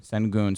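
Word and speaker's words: Şengün: Sengun, help me out with how you pronounce his name. Sengun.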